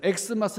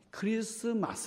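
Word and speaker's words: Xmas: x 가 아닙니다 그래서 x 마스 읽으면 안 되죠 x 자가 써있지만 예 2 헬라어로 크리스 토스 그리스도 라는 말이에요 그리스도 라는 말에 앞 글자 x 가 아니고 키라는 건데 쉬라고 하는 이 발음을 거기다가 표기한 거예요 그러니깐 크리스마스 라고 얘기 해야 되죠 x 마스 라고 표기할 지나도 읽을 때는 크리스마스 예요 여튼 1x 마쓰 그래가지고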